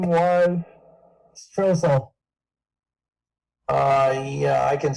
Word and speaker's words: Strohsahl: Stroessel. Yeah, I can spell that for you.